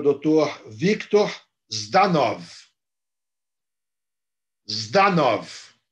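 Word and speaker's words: Жданов: Zdanov. É assim que se pronuncia em russo.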